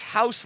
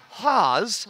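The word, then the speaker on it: Hause: house but not house it's haas rhymes with pause i was like perfect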